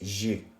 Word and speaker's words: j'ai: So for the first one, it's j'ai, J apostrophe AI.